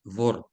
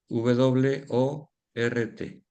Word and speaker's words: Wort: La palabra primera es Wort, W-O-R-T. Así suena en alemán Wort, igual que se escribe. W-O-R-T. Wort, que significa palabra. Pero la palabra que yo